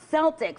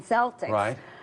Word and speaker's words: Celtic: Well, Joe Biden's code name is not Celtic for the Boston Celtics, like some of the Secret Service are having trouble keeping straight right now. It's actually Celtic with a hard C.